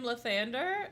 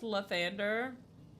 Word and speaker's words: Lathander: The real name Lithander is pronounced Lathander.